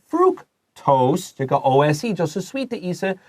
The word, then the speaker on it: fructose: Fructose. 这个 C 发 K.